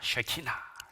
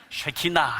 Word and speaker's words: 쉐키나: 말씀입니다 이걸 키나라 합니다 쉐키나 예 발음 잘하셔야 됩니다 쉐키나 해야지 야 하면 큰일납니다 쉐키나 제가 최근에 특별히 좋아하는